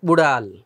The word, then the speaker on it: উড়াল: এই ড বিন্দু র, এটা উচ্চারণ করতে অনেকের একটু কষ্ট হয়। তো শব্দটা হচ্ছে কি উড়াল। এখানে হসন্ত আছে, ল হসন্ত, উড়াল, উড়াল, উড়াল। আমার সাথে সাথে উচ্চারণ করো সবাই, উড়াল, উড়াল। এটা বস বিন্দু রয়েছে, ড বিন্দু রটা একটু ভেতর থেকে উচ্চারণ হয় এবং জিভেটা একটু উপরের দিকে উঠে কম্পনের মতো তৈরি করে, উড়াল।